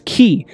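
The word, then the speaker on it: χ: force and of course ki is also the 22nd letter of the uh ancient Greek alphabet pronounced as as key and it literally means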